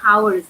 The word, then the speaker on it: hour: We don't say hours, not we say hour. H-O-U-R. The pronunciation is hour. So here H is silent.